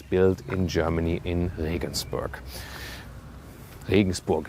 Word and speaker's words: Regensburg: Regensburg is the German pronunciation. Listen and repeat. Regensburg.